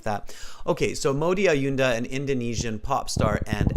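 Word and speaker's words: Maudy Ayunda: answers to hers right so um am I pronouncing her name right mamo diaunda huh um Modi Modi ayunda yes that's right okay maybe somebody can even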